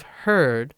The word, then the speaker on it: heard: familiar s beware of heard and a dreadful word that looks like beard and sounds like bird and dead is said